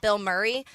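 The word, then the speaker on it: Bilmuri: There's also another band called Bill Murray, but it's spelled B I L M U R I.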